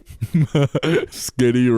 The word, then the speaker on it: Skitty: Skitty rhymes with dick.